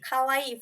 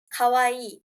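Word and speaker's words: かわいい: sure I can do the sound so for kawaii for cute it's Kawaii okay it's kawaii for scary it's Kai Kai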